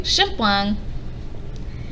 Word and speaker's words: shampoing: It's pronounced du shampoing.